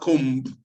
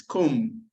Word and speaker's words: comb: It's not comb. It's comb. So we have silent consonant.